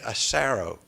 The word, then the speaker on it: Asaro: You say it Asaro, is that correct? Asaro. Huh? Asaro. Asaro, okay. I thought it'd be nice if I pronounced it correctly.